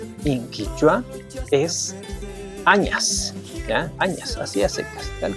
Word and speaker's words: añas: Inquua es añas. Ya, añas, así aceptas, tal como se está pronunciando.